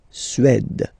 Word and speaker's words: Suède: La Suède, la Suède, Suède. Remember, accent grave, it's really open. Suède, Suède.